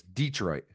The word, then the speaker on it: Detroit: year, the Detroit Lions, to put the emphasis on that syllable a la Mike McCarthy. It was always great. Whenever the Packers played the Lions, it was Detroit.